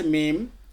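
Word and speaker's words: م: অংশতে মিম উচ্চারিত হয়। মিম, হ্যাঁ মিম, মিম, জি। এখন যদি সাকিন করে উচ্চারণ মিম, করে দেখেন, হামজা মিম জবর আম,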